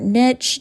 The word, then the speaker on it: niche: company so for example shed light on your Niche or Niche depending on how you want to pronounce that you can even skip ahead a